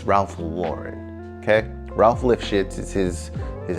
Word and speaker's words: Ralph Lauren: But if you didn't know, it's Ralph Lauren, okay?